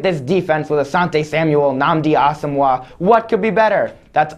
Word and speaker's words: Nnamdi Asomugha: Okay, so it's pronounced Nnamdi Asomugha, first of all, Jimmy.